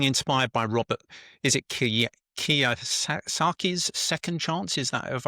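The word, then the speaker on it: Kiyosaki: He talks about being inspired by Robert, is it Kia Saki's second chance? Is that have I pronounced that correctly?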